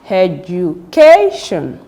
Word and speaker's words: education: from the end right so how do you pronounce the word education amation operation ration when you get to this